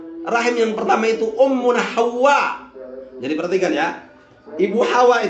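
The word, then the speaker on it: حواء: Rahim yang pertama itu Ummuna Hawa. Jadi perhatikan ya. Ibu Hawa itu Hawa. Jadi tulisannya itu ha, waw. Wawnya ditasdid. Kemudian ada alif, kemudian ada hamzah. Jadi bacanya itu Hawa, bukan Hawa.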